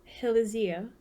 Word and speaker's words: Helizea: I thought it up as Hilizia. Helizia.